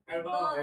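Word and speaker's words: adverb: एडवर्ब।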